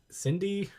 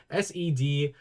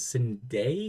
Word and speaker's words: Sendai: Next up is it's Cindy, not SEDSENDAI. I already knew how to say it before. It's Sendai Girls.